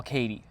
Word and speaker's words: Katie: pickup that I call Katie. Letters K and T, pronounced as like Katie, the female name.